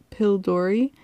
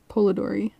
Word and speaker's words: Polidori: by John William um pill Dory in 1819. pretty long time ago um oh sorry I said that name wrong polydori polidori something like that um so anyways this